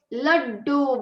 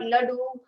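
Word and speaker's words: लड्डू: Laddu, because da has another do connected, so you have to say it with emphasis. Laddu and not ladu or not ladadu, but laddu.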